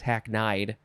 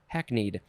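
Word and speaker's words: hackneyed: uh the synonym is hacknead i think that's how you would say it not hacknide hacknead as in a cliched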